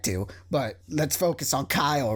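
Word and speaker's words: X Æ A-12: know yeah he like he had to go on Twitter and specify that was pronounced Kyle because it was like some kind of formula thing and the way the formula is pronounced would be pronounces that's Kyle I'm just saying makes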